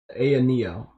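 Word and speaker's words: AYANEO: I don't know how to pronounce that properly. You're saying the Neo? Aya Neo.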